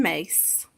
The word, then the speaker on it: Myss: If you are aware of her, Carolyn Mace, and that's spelled MYSS.